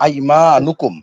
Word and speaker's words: আইমানুকুম: আইমা নুকুম শব্দটা নুনের উপরে পেশ দেবো, আইমা নুকুম নুকুম।